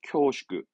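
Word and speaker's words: 恐縮: 이건 우리말이 없어서 공축이라는 건데 발음은 쿄슈크합니다. 쿄슈크. 쿄슈크 데스 하면서 뭔가 이 공축이라 하면 우리말로 뭐라 할까? 황송함 또는 죄송함을 말할 때 황송합니다. 쿄슈크 데스.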